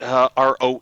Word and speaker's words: Roehl: Hey, Roehl Transport, Roehl, is a lot of people pronounce it roll, but freight is finally starting to pick up.